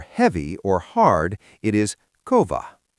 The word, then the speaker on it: kova: So if you see the word for heavy or hard, it is kova. Because it has a V, you know it will always be a single quick beat.